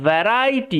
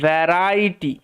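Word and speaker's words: variety: ফলের বাগান ছিল আ ভ্যারাইটি এটার উচ্চারণটা হচ্ছে ভ্যারাইটি ওকে ভ্যা রাইটি এরকম ভাবে উচ্চারণ হবে এই উচ্চারণটা একটু মাথায় রাখবে এটা কিন্তু একটু ব্যতিক্রমী শব্দ যেটা স্পেলিং এর রুলসে যায় না আ ভ্যারাইটি অফ এটা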